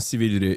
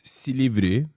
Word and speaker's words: Silivri: He said it wrong. It's not Silivri. It's Silivri.